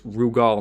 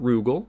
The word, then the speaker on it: Rugal: kof is called rugal it's rugal not rugel it's rugal because of the way